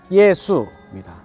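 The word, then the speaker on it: 耶穌: 묘라고 하는 표현이 있습니다 야소 중국어 발음으로는 예수입니다 예수회를 뜻하는 것이죠 야소회사 예수의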